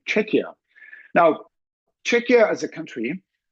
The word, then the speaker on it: Czechia: correctly pronounced in English it is with K as in a cat and as in the word check or Czechoslovakia because I often hear some people checks pronunciated as CIA which is not um